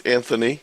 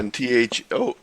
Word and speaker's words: Anthony: Can I just ask you as well, do you pronounce it Anthony or Anthony? It's Anthony. Anthony. Unless you're the Dayton Hamvention who created my name tag that said Anthony. Oh, right, yeah. Anthoney.